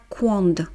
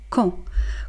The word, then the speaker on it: quand: Donc Q + U, vous produisez le son K. Ensuite, on ne prononce pas la dernière consonne, on ne dit pas quand, d'accord ? On dit tout simplement quand.